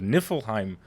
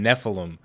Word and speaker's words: Niflheim: I finally got it it's the NIF the Niflheim frost I was saying Nephilim for a really long time